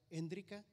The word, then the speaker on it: Hendrika: Mi esposa se pronuncia Hendrika.